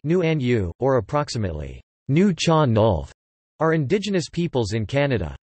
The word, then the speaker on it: Nuu-chah-nulth: revived in recent decades topic knew you Chernov the newer John Dolph pronounced new and you or approximately new John Dolph are indigenous peoples in Canada their traditional home